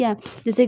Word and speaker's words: hath: ये old English के according है, कई लोग इसे हैथ पढ़ते हैं। इट्स अ रॉन्ग प्रोनाउंसिएशन, और प्रोनाउंसिएशन की बात भी नहीं है, वैसे भी है इसमें ओल्ड इंग्लिश के अकॉर्डिंग मैं बताऊं तो इसे हैज़ बोलोगे।